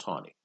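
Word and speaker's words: Taney: Roger tawny and spelt a knee but it's pronounced tawny Roger tawny who is a close political ally of Andrew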